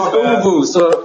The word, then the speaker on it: Uvu: So it's Uvu. So it rhymes. It's all good. So it rhymes with voodoo. It's like FUBU.